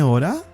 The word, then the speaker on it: hora: can also ask tiene ora do you have the time dna order the h is silent don't forget that we